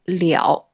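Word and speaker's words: 了: Juste une petite précision : le quatrième caractère se prononce « liǎo » sur le troisième ton.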